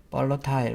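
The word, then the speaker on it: volatile: 자, 그 다음에 이제 여기 발러틀 영어 발음 미국식은 발러틀 영국식은 벌러타일 뭐 이렇게 될 것 같은데요.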